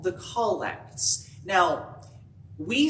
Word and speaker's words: collect: the episcopal church because anybody else who's not been a part of the episcopal church will look at this and say collect but using the pronunciation of the word collect is an indication that this is something specific and the collects are